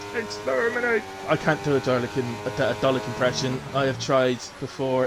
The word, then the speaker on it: Dalek: You take out the R and you would have had it right. It's not Darlick, it's Dalek. Dalek.